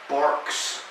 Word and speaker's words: Barq's: And by the way, it's Barq's. Right. That's a Q.